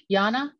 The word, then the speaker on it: Yanna: We have a raised hand, Yana. Hi, thank you. You guessed my name, pronunciation of my name.